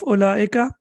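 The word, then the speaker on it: أولئك: Also, please notice that the waw of ulaika is not pronounced. It is not pronounced. It's an additional waw or extra waw. And when we read it, we will say ulaika.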